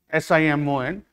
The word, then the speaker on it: Simon: It is written as Simon, S-I-M-O-N, but French name, so it is pronounced as Simon, Saint Simon.